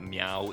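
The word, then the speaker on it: Myau: the cat's name uh it seems to be Mayu is how I would say it but meow is a legitimate alternative pronunciation like I don't know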